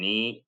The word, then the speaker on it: knee: It can also be written as KN, but the K is silent and together they make the sound na, as in knee, knock, knife.